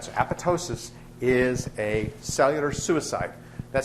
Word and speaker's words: apoptosis: for the same reason the p is silent as it's silent in pneumonia um the the second p is is silent so apotosis is a cellular suicide